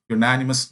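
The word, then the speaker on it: unanimous: നോക്കുക യുണാനിമസ് എന്നാണ് വന്നിരിക്കുന്നത് യുണാനിമസ് എന്ന് പറയുമ്പോൾ അവിടുത്തെ ഉച്ചാരണം തുടങ്ങുന്നത് യ യു എന്നാണ് യ യു അല്ലേ ഇത് എന്ന് പറയുന്നത് എന്തിന്റെ ശബ്ദമാണ് കോൺസനെന്റ് സൗണ്ട് ആണ് കോൺസനെന്റ് സൗണ്ട് വരുന്ന സമയത്ത്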